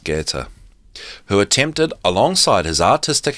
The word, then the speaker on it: Goethe: It may be regarded as entirely natural that someone like Goethe, if I'm pronouncing that right, it reads as Goethe, and I'm pretty sure it's pronounced Goethe, who attempted alongside his